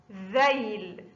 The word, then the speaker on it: ذيل: 3 ذيل، ذيل، ذيل، ذيل. لا بد أن نفرق بين الذال والزاي. الذال لا بد من إخراج اللسان عند النطق بالذال. ذيل، ذيل.